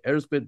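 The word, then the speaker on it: Erzsébet: And there are people out there who'll be like, you're not pronouncing it right if you don't say Elspeth Báthory.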